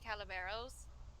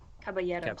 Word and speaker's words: Caballeros: have I'm going to butcher both of these pronunciations. I apologize. Saludos amigos. Yeah, Saludos Amigos and the Three Calaveros. Caballeros.